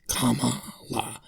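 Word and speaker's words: Kamala: Presidential nominee Kamal Harris Kama La they said to say it like a Kama and then law Harris who wasn't fully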